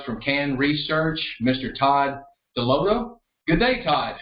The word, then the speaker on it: Dalotto: Todd Dalotto. Good day, Todd. How are you doing? Very good. That's Todd Dalotto. Dalotto. I appreciate the correction on that pronunciation.